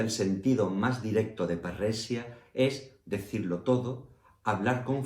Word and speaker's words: Parresia: Parresia es la pronunciación castellana derivada del latín del término griego parresía.